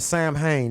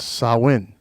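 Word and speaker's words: Samhain: some people call it Sam Hayne that's how Americans pronounce it but yeah but it's a Celtic word so it's sarwin though I'm glad you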